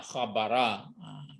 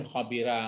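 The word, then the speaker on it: خبر: Iya, khabara. Itu mungkin kalau lihat pun kamus nanti enggak ada berarti mungkin khabira, enggak ada khabura, tapi khabara.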